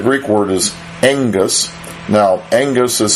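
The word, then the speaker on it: ἐγγύς: Now, engus is spelled E-G-G-U-S in Greek, but the double G in Greek is pronounced as N-G, like an angelos. It's called a nasal gamma for you Greek fans. And you're supposed to pronounce and transliterate it into English letters as NG.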